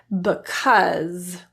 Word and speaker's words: because: Just vocalize the sound Here are a few rare words in English that are spelled with an A, but are pronounced as What? Was? Because.